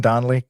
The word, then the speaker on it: Donnelly: Am I saying Donley? That's how you pronounce it?